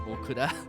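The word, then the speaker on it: オクラ: So it was okra, but with an extra U, so it's okura.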